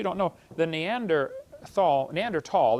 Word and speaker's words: Neanderthal: know the neander th neander tall the H is silent neander tall man is